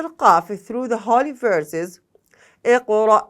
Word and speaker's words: Qaf: The letter Qaf pronounced from the root of the tongue and the soft palate.